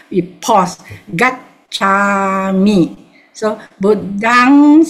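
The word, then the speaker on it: Buddhaṃ: The B-U-D-D-H-A-M with a dot is pronounced as Buddhang. Can you see? Yeah. Buddhang.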